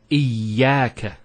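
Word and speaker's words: إياك: Iyaka. Notice the ya gets a double vowel because of the shadda there. Iyaka. It's not iyaka, iyaka.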